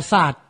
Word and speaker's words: กษัตริย์: หลาย ตัว อย่าง เช่น คำ นี้ อ่าน ว่า กษัตริย์ ไม่ ออก เสียง ร เรือ สระอิ ย ยักษ์ การัน ส่วน คำ นี้ อ่าน